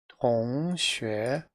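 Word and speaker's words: 同学: so you'll notice that this is an expression made up of two characters which means that it's made up of two syllables remembering that one character equals one syllable and vice versa one syllable equals one character in Chinese the first syllable or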